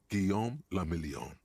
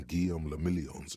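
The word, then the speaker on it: Guillaume Le Mignon: Guillaume le Million. If it doesn't rhyme, you're not pronouncing it right.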